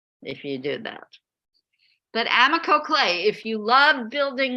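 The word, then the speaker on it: Amaco: The best clay company on earth is called Amico. It's spelled A-M-A-C-O.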